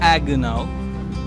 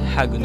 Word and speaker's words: Haguenau: in Hagin oh sorry it's in French it's called agonal in English it's Hagin also so I'm gonna fellas